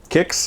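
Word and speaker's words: Quix: I don't know, but we used to call it quicks, like Q-U-I-X, quicks. But then over time in the collection, I guess in the arcade industry, people were saying, no, it's pronounced kicks with a K, like K-I-X. And I was like, oh, okay, you know, like the cereal, kicks. So I call it kicks from now on.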